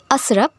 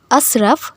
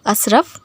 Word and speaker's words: আশরাফ: জানাবেন আরো একটি কথা সেটা হলো নাম হচ্ছে আসরাফ সঠিক উচ্চারণটাও হচ্ছে আশরাফ কিন্তু অনেকেই দেখেছি ভুল উচ্চারণ করেন তারা ডাকেন আসরফ আসরফ এইভাবে তো যদিও এটা ঠিক নয় সঠিক উচ্চারণ হচ্ছে আশরাফ কিন্তু আমি সচরাচর দেখেছি বিশেষ করে বেশিরভাগ মানুষই